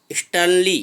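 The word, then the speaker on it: sternly: old seed अ कि स्टैनली मैं इसमें आर साइलेंट है इस ट्रॉली नहीं पड़ेंगे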